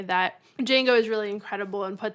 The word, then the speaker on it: Django: The D the D is silent. Oh, okay. Uh, Django.